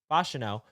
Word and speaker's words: Fashanu: some buzz and all of a sudden Olu fashanu became f I got to remember how to say his name fashino Olu fashino was a guy that not a